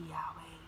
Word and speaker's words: Yahweh: Inhale, exhale, way, way, way. Oh, blessed be Yahweh.